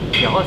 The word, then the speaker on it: Kheira: Je vais vous montrer comment Kera le faisait. Kera, c'est ça, je le prononce bien.